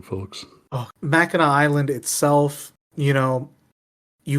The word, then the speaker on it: Mackinac: Okay, so I'm gonna get killed if I don't correct you and say it's Mackinac Island.